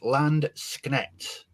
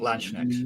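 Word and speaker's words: Landsknecht: these guys correctly so it's land schneckt not large next landscape schenect next let's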